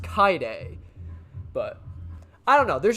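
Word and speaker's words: Kaede: pretty sure it's pronounced kai day like you basically skip over the e it's the ah the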